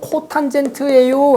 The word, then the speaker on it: 코탄젠트: 읽을 때는 코탄젠트예요 라고 읽어요.